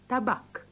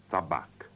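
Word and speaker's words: табак: the Russian for tobacco is tobacco is T pronounce tabac tabac here is the Tobacco on the table what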